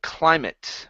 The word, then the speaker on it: climate: a te okay we we do not pronounce an eight sound okay typically when it